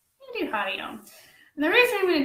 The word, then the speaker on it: Om: And then om. So it stimulates the entire respiratory tract. Is it something religious? If you're Hindu, it's 3 syllables if you want to break it down.